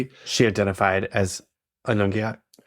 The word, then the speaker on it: Unangax̂: Unaf.